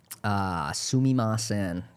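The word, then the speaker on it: すみません: Sumimasen, sumimasen, sumimasen, Sumimasen.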